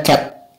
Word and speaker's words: ket: Nah, ini bacanya C, simbol, ada garis terus seperti ini namanya cat. Jadi bacanya cat C.